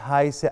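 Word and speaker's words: heiße: اسمك ايه ايش هاي قلنا في الحصه اللي فاتت تتنطق زي اس اس ايش هايسه انا اسمي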